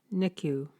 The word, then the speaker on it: NICU: care unit, the NICU, which staffers pronounce NICU.